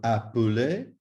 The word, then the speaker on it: appeler: Please note that little E must be pronounced as an E, otherwise it will sound incorrect and possibly not even understood. So, appeler, regarder, jeter.